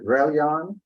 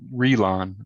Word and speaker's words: Relon: Is it Relion? Something like that? It's Relon. Like Relon. So it's pronounced just the way it looks.